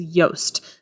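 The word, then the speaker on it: Yoast: word you are saying it is yast so it's spelled just like toast but instead of a t at the beginning it's going to be a why y SEO has so many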